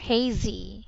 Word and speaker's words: hazy: claw cloudy yeah and the word hazy should be pronounced with a long a yes so it's a there there hazy yes it's like lazy